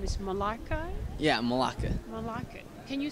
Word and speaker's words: Melake: and then also your name is malaka yeah malaka malaka can you spell that m e l a k e okay